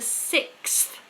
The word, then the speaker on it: sixth: word which is the sixth we've talked about it many times before six many sounds are going on we've got a k s s an s six and then a th six so I want to